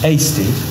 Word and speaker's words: Hasty: Is it Hasty? Yeah. Sorry, did I say it right?